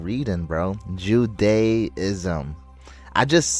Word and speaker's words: Judaism: I can't believe I'm think I'm pronounced love or love from Pakistan. You're not reading, bro. Judaism. I just said that. I'm saying that right now. Judaism.